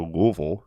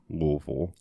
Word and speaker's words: Louisville: gonna go up to Louisville Kentucky and anyone listening from outside of Kentucky it is Louisville Louisville I hate that I